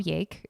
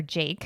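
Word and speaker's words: Jaeck: Brendan ballad and Bob yake or Jake sorry for mispronunciation it's j-a-e-c-k so Jake uh or Jake I'll just say Jake whatever uh these two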